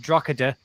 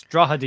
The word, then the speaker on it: Drogheda: My local side is Drogheda United, not to be pronounced Drogheda. It's Drogheda United.